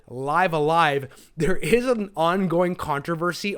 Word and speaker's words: Live A Live: let's play this and they did actually say live alive so I'm gonna go with that pronunciation and stick with it okay another thing I